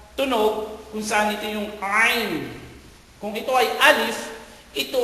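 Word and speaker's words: عين: So yung ayn, so parang pag hinawakan mo yung ilong mo, a. So ganun ang, halos ganun ang tunog ng ayn.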